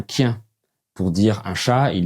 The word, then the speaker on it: kien: Par exemple, le son A se prononce O et ils diront « je sais pas » pour dire « je sais pas ». Pour dire un chien, ils disent un quien.